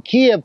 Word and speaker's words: Kyiv: NATO well this was uh the largest on Kev by Russian forces it's pronounced ke over the summer perhaps the biggest